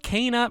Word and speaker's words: Kena: in this video i want to talk about cana bridge of spirits i finally got the name